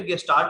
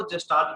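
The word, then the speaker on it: Gestalt: कहीं पे गेस्टाल्ट आपको मिल जाए, कहीं पे आपको जेस्टाल्ट भी मिलता है। आपको नाम प्रोनाउंसिएशन इसके अलग अलग मिलते हैं।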